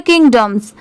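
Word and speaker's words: kingdoms: यहाँ पर प्रोनाउंसिएशन करते टाइम पूरा डोम का नहीं यूज करेंगे, उसको स्पीड में बोलेंगे तो पूरा डोम नहीं आएगा, किंगडम्स, किंगडम्स। यहाँ पर डम की साउंड आ जाएगी, किंगडम्स, जो कि यू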